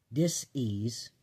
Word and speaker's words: dis-ease: But if we can talk ourselves into dis-ease, that's how it's said. It's instead of disease, it says dis-ease.